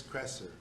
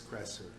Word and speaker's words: Kresser: and he take supplements the other guy Chris presser to make sure I'm pronouncing Chris Kresser he's not a vegan son he's an omnivore